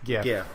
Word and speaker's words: GIF: It's GIF. It's GIF. It's a hard G.